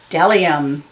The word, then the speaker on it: bdellium: B is for bdellium. We doubt anyone knows what bdellium is, but it's the only word dumb enough to begin with a silent B.